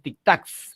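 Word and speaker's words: tictacs: Y la palabra tic-tacs, no es tic-tacs, es tic-tacs, es una palabra aguda.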